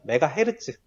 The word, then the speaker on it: 메가헤르츠: 2000년 1메가헤르츠, 메가헤르츠라고 읽어요. MHz 마음대로 읽으세요. 중요한가요? 메가헤르츠 이었던 것이 3년마다 4배의 비율로 빨라진다.